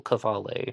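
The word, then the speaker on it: Qvale: zodiac killer was a norwegian american named shel cavale his first name is spelled shell k-j-e-l-l and cavallae spelled q-v-a-l-e he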